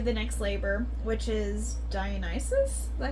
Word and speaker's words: Dionysus: Yeah, so then it kind of goes into the next labor, which is Dionysus.